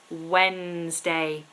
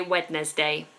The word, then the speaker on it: Wednesday: ra Felipe good question how do you pronounce Wednesday silent D please everybody Wednesday so we have no D there at all apart from day of course but we don't say wedes day which some people do so don't do that